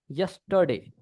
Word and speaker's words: yesterday: यस बोलते हैं इसको, यस, यस्टरडे। र नहीं बोलते पूरा, ठीक है ना, पूरा र का प्रोनाउंस नहीं होता यहाँ पे।